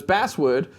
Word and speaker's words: basswood: of the japanese thing these are basswood or basswood you won't pronounce it it's basswood uh which you typically see